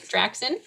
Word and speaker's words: Draxon: Am I pronouncing that right? Draxon? Yes.